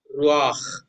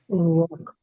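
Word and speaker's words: רוּחַ: Ruach, Ruach. ruach. Wow. Okay. Yes. So how I read? Resh, Ru. Shurak, then Patafurtu, and then only comes Khet.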